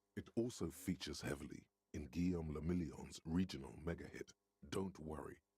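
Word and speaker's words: Guillaume Le Million: meant only one thing Guillaume La million if it doesn't rhyme you're not pronouncing it right out of the dazzling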